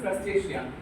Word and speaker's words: Crustacea: You can say to Crustacea, we pronounce for this is Crustacea.